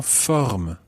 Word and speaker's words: forme: And then the full phrase, je suis en forme. Je suis en forme. Okay, just watch the pronunciation there at the end.